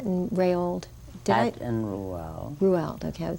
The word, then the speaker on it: Roald: Roald, okay. Roald, that's how you pronounce his name.